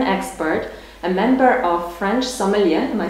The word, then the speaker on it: sommelier: a French wine expert, a member of French Sommelier, am I saying it right? Yes, Sommelier Association, right?